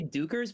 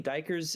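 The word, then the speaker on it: duikers: I used to say dukers, but apparently dikers I think is more Yeah, it says commonly on the pronounced.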